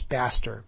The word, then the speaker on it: Bastyr: If you look at the curriculum at Bastyr College, yes, Bastyr, B-A-S-T-Y-R, maybe I pronounce it wrong, but I couldn't come up with these names if I tried.